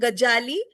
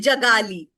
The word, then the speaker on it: Gajali: like a restaurant called Gajali, she'll say Hmm. Jagali.